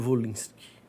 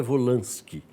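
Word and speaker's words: Wolinski: mundo no Brasil po eu sempre pronunciei volinski mas me disseram que a pronúncia correta é volanski né como eu não sou mestre em francês eu continuo chamando de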